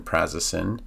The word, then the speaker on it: prazosin: the Raz Raz in prazasin for the ray nods and I know it's spelled with an S but it's actually sounded out like a z so r a z